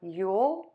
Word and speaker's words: Yule: u o fuel you will so you have Yule and you will you you all so I'm gonna do this pronunciation first you'll you'll you'll and you'll you'll